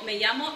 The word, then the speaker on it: me llamo: Now, we keep remembering, okay, that when we say my name is, it's me llamo, okay, double L, ya, okay